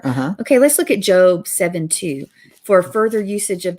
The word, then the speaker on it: Job: The book of Job. Job. I always wondered why they didn't spell it J-O-B-E.